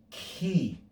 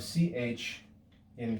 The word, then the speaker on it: chi: And you should hear something of a kappa with a breath. Ki, Ki. The figure for Ki is like the English X, and the lowercase form is like an X that extends usually below the line. Anytime we see this letter, we should read it with the sound of CH in chorus.